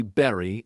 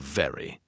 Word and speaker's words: very: Some people say berry instead of very or they say wine instead of vine. The V sound is made by touching your top teeth to your bottom lip and pushing air. Say very, very, very.